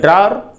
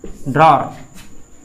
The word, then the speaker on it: drawer: DRAWER, ड्रॉर। ये last are का उच्चारण हम नहीं करते हैं, कर भी सकते हैं, ऑप्शनल है। ड्रॉर या ड्रॉ, ड्रॉ आर साइलेंट जैसा हो रहा है।